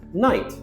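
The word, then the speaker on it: knight: Night and night. Night with a silent K is a medieval person dressed in a suit of armor.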